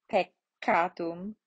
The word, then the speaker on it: peccatum: Double consonants, you're going to pronounce both of them. So ancilla, missa, peccatum, sabbatum, comito, comito, right? So all of the consonants are pronounced with just a small pause between the letters.